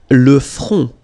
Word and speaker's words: le front: Le front. Final T, not pronounced. Le front. Okay, remember this nasal, O-N, on. Le front.